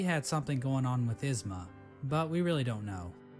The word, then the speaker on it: Isma: I mean, it's you pronounce it Isma.